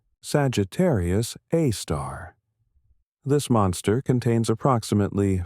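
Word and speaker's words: Sagittarius A*: A super massive black hole called Sagittarius A. Pronounced Sagittarius A star.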